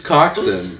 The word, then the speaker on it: coxswain: It is Coxswain. Coxswain is how it's spelled.